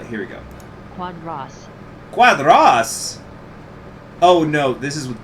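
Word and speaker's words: Quadros: pronounced giannio uh and the cuadros is more like excuse me cuadras so even though there's the oh it's making the uh sound so janio da silva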